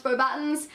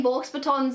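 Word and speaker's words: Beauxbatons: Potter even though I know it's pronounced four buttons I still say balks batons in my head and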